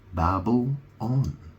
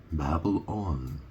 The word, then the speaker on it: Babylon: was a there was Babylon Babble on I mean obviously it's spelled a bit differently is spelled b a b y l o n but you pronounce it very similar to Babel or Babel you know